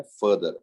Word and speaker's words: further: फर्दर इसको pronounce करते हैं फर्दर, FURTHER. लेकिन उच्चारण जो है वो फादर कैसा है.